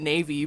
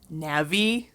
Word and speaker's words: Navi: little i pronounced it navy because that's just like how i read the word because that's like yeah um and some people will pronounce it like navi like navigator yeah which is because